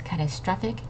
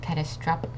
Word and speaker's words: catastrophic: notice how the p and the H make an F sound not a P okay it's catastrophic not catastropic okay it's catastrophic and